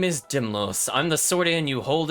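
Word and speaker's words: Dymlos: pronounce this person's name is it do you think it's dimlow's chat or daimlos for now i'm going to say dimlos my name is dimlos i'm the swordian you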